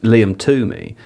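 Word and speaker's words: Liam Twomey: reporter who covers Chelsea for the Athletic, it's pronounced Liam Tumi.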